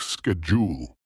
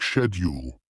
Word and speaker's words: schedule: Example, the word schedule in American English is pronounced like schedule, while in British English it's more like schedule.